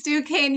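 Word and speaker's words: Duquesne: It's Dukane University.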